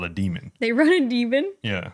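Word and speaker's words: daemon: AI it must be demon I was just thinking about it because like if were to run a certain program it's spelled D AE m o n but it's pronounced demon I'm reading Frankenstein and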